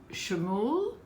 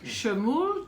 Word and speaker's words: Shmuel: Shmuel, did I pronounce it correctly? Yes. Shmuel Tatz.